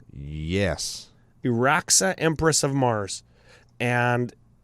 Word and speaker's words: Iraxa: I want to talk about Iraxa, Empress of Mars. Am I saying it right? Yes. Iraxa, Empress of Mars.